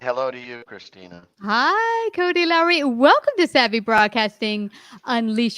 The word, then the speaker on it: Lowry: and how do you say your last name lowry l-o-w-r-y and hello to you christina hi cody lowry welcome to savvy broadcasting unleash your story we're